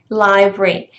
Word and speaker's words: library: to be library but you wouldn't say that right you would say library library and the picture that